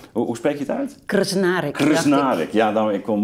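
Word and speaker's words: Krznaric: Hoe spreek je het uit? Krsnárek.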